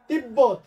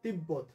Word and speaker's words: তিব্বত: হাম্বা, লম্ব, 90, তিব্বত। এগুলো সবগুলোতেই বয়ের সাথে বফলা যুক্ত হয়েছে, ময়ের সাথে বফলা যুক্ত হয়েছে, এবং এই সব জায়গাতেই বফলার উচ্চারণটা ঠিক থাকবে।